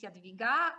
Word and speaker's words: Jadwiga: from poland greetings from pooch my name is jadaviga and i represent central education i know it's pronounced uh difficulty difficulty and with difficulty and